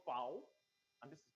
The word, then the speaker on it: V: towards their sound okay this is called fou and it has the F sound okay it's called B